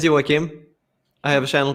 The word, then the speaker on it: Joakim: no problem i mean it's a swedish name so hi everybody my name is iwakim i have a channel